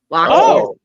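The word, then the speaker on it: Loxias: Loxus. Okay. Whatever. Pretty sure it's Loxus though, because I think that I is not pronounced in that culture.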